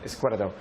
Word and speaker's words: Izquierdo: Izquierdo.